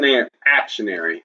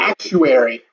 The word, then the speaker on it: actuary: Auction actionary. Actionary. Well, I mean that's what you told me. Actuary. Actuary. Actuary. Actuary. I'm saying it right.